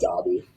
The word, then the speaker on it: Daube: Yeah, it's Daube. So it's been missed my entire life, especially over the mic at wrestling tournaments. Daube, everything. Just start with a D and throw a B in there.